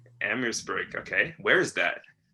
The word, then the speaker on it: Amherstburg: Is that how you pronounce that too? Amherstburg. Amherstburg.